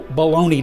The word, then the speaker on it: bologna: week we celebrated national baloney day wow how you would have missed that but it got me thinking why do we pronounce it baloney but spell it b-o-l-o-g-n-a that looks like you